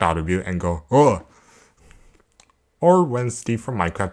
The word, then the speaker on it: ㅗ: how you write it o has the sound of when you pronounce ooh but you open your mouth into an l sound this one sounds similar to when you realize something new and go oh combined with the consonants